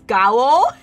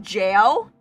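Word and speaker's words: gaol: This brings me back to the day when I pronounced jail as gao. Like the olden English for jail. G-A-O-L. I pronounced it as gao instead of like jail.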